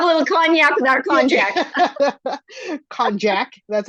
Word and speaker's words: konjac: So there's very few calories in konjac, and it's not cognac. Cognac would be that delicious brandy drink. We'll have a little cognac with our konjac.